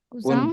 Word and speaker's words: Cousin: Also Isabel Sante, Ja, Tante und Onkel und auch Isabel Kosten Kusang und bacanya. die Cousin Kusang.